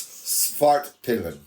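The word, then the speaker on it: Svartpilen: pronounce it. It's Svart Pillen.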